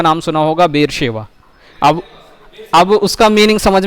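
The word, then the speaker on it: बेरशेबा: क्योंकि बेर सेवा है, SH है, और लोग बेर सेवा सेवा बोल के पूरा दिमाग खराब कर देते हैं। क्यों कर देते हैं? क्योंकि उनको उसका उच्चारण सही नहीं आ रहा है।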